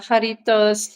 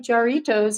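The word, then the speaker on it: Jarritos: so that's really exciting I used to pronounce uh Haritos the white people way. Jaritos. I know. I mean, it if you are an American, it looks like jarriitos.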